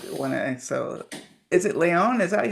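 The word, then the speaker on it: Layown: I So, is it Leon? Is that how you pronounce your name? Yeah. Sorry. Like L A Y O W N. Leon. Leyon. So, I said it right. Yes. Like Sierra Leon.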